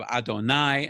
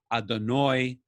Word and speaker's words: Adonai: sephardic pronunciation oh main we have adonai and adonoi um in ashkenazi and when i went